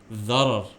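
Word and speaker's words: ضرر: It rhymes with gharar. Dharar.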